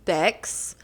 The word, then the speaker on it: B3XX: yes so for everybody my name is beex but it's spelled where the E is the three so it's B3 XX